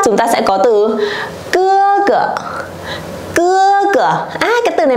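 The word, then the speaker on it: 哥哥: Cái từ này mang thanh gì đây mọi người ơi? Thanh nhẹ đúng không? Thế chúng mình đọc to lại giúp cô nào. Cưa cửa. Cưa cửa đây có nghĩa là anh trai.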